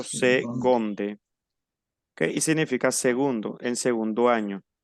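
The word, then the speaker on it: seconde: bien como una g como una g segonde yo pronuncio segonde significa segundo en segundo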